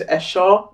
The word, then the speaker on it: Esho: Did I get a pronunciation of that right? Well, yeah. Some Nigerians will say it's Esho, but yeah.